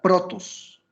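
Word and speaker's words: πρῶτος: de mateo 10 2 del texto griego se pronuncia protos protos que significa primero significa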